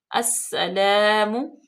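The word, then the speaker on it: السلام: अब देखें अलिफ लाम जो है वो साइलेंट होगी, सीन में डायरेक्ट हम हमजा को मिलाएंगे और सीन मुशद्दद है, सख्ती से पढ़ा जाएगा और इस पे सीटी की आवाज पैदा करेंगे।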